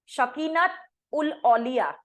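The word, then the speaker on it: Shakinat al-Auliya: शकीनत उल औलिया, शकीनत की स्पेलिंग बताती हूं, SHAKINAT, शकीनत डैश लगा के, अल AL डैश लगाओ, औलिया AULIYA, शकीनत अल अलिया।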